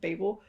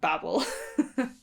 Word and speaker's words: Babel: uh babel and yes i am gonna pronounce it babel because that is a british way to say it and it really winds me up how many people of mine say babble in hitchhikers guys the